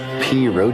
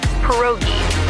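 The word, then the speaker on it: pierogi: Periro. Did I pronounce that right? It's pronounced perogi. A tasty dish like dumplings.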